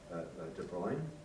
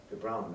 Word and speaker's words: de Bruijn: piece of work by De Bruyne on de Brown, I think it should be pronounced, um on called Automath